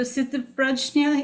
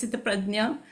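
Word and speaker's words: स्थितप्रज्ञ: So Sthitaprajna is how it would be pronounced in English, I suppose, because of the way it's spelled. In Sanskrit, it's pronounced as Sthitaprajna, and in Hindi, it's pronounced as Sthitaprajna. So both those pronunciations, or probably even 3, are acceptable.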